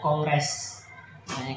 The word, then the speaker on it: kongres: Sering orang menambah huruf G pada kata kongres, padahal aslinya kongres. Kan orang menggunakan menambahkan huruf G di antara atau di dalam pengucapan kata kongres.